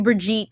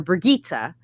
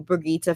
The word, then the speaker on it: Brigitte: done so all you Brigitte Healing means out there or Brigitta let me say it right before I get attacked in the comments um all you Brigitta fans you're gonna be really